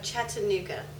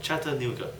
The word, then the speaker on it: Chattanooga: have a problem he's trying to pronounce Chata oh chatanuga oh oh Chattanooga yeah Chattanooga okay like Chattanooga Cho Chu have you ever heard